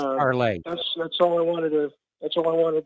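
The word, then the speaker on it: Parler: I know she's on Parlor, so if you got Parlor, uh, you could check her out on Parlay. It's pronounced Parlay.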